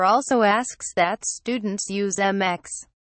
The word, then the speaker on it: Mx: asks that students use MX quote pronounced mix when addressing the teacher